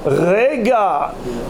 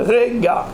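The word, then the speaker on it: רגע: Et Kama Zarmo Rega, chez Neymar qui Rega Be'apo, sa colère elle dure Rega.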